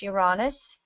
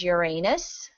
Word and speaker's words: Uranus: and of course there's two ways to pronounce Uranus there is Uranus the one that gets the joke and there's Uranus and those are the two most accepted pronunciations I have a tendency